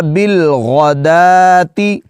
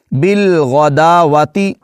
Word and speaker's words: بِالْغَدَاةِ: کر جاتے ہیں، تو واؤ کو ہم نے یہاں بالکل نہیں پڑھنا، دال کھڑا زبر دا،